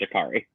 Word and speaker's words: Jacory: think it was expelled it spelled Jacory but it's pronounced Jakari yeah well then I